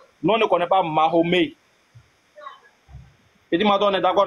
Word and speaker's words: Mahomet: Nous ne sommes pas des Arabes, donc on prononce Mahomet en français.